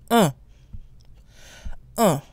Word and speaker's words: un: first we have one which by itself is pronounced ah ah with a nasal sound we don't pronounce the